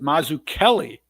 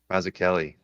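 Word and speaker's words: Mazzucchelli: David Mazuchelli. Yeah. This one's already at uh 33 or I take it back. He pronounces it Mazu Kelly. Mazu Kelly.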